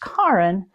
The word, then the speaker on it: Karin: that's the name Karen only it's pronounced Karin because it's the Norwegian pronunciation so we had two